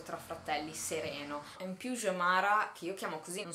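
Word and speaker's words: Xiomara: In più Jomara, che io chiamo così, non sono certa che si pronunci Jomara, comunque in teoria in portoghese la X si pronuncia J.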